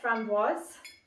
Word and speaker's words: framboise: So for the framboise, that's how you say it, I'm going to do just 15 ml of this.